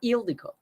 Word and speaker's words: Ildiko: Yeah, it's like the pronouncing is on the front part.